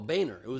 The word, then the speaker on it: Boehner: Do you remember when Boner and Obama had shared a beer? Did you just say Boner? Boner. Oh, Boehner. It's pronounced Boehner, even though it's spelled Boner.